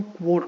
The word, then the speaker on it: quote: व साउंड, है ना, तो इसको हम कोट नहीं बोलते हैं, इसको हम क्वोट बोलते हैं।